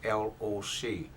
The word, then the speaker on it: Loc: First name is L-O-C. L-O-C means pronounced Loc. Dao T.